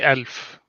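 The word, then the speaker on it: ألف: You'd say elf. So the stress is on the L, I guess, for 1,000. Alf?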